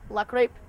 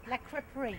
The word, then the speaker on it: La Creperie: Here we are with Carol Lucas, the owner of La Crepe in Fort Collins. Sorry, did I pronounce that right? La Creperie.